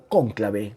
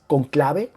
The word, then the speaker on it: conclave: La palabra conclave, al principio de la narración, yo comencé a usarla como cónclave, ¿no? Con el acento en la O. Y revisé en el diccionario y tanto cónclave como conclave se puede usar en esta palabra. Voy a seguir con esta última, que es conclave, porque no me marca